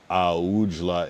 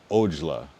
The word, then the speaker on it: Aujla: He said not Aujla, it's Ojla.